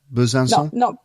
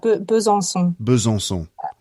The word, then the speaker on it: Besançon: It's hard to pronounce. Besançon? Not bad. Besançon. Oh, that was really good. That second time. Besançon.